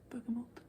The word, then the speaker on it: bergamot: Bergamot? How do you say it in English? Bergamot? There's no N.